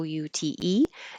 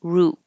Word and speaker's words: route: This word can be spelled the same, Route, and pronounced two different ways. Some people will say ow, route, and some will say ooh, root.